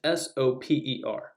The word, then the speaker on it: Soper: I have difficulty pronouncing this name. It is Soper.